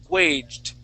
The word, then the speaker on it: waged: little bit okay and really what your tongue is doing you're almost pronouncing a t sound at the end okay it's a very it's like a mix between a d and a t waged okay it's a slight T but it it is a D sound waged okay